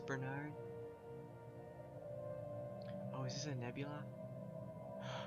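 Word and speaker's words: Barnard: to the Barnyard star I always pronounce that barnyard for some reason and I know it's Bernard oh is this a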